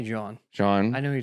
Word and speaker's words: Jean: Just say John.